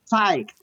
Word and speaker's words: psyched: so excited I'm so psyched psyched psych psyched psyched yeah this pronation must try many times yeah it's kind of confusing because the way it's spelled the p is silent oh P silent yeah